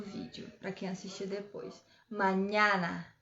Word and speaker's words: mañana: É onde tem o N, a gente coloca o som do NH. Por exemplo, a palavra mañana.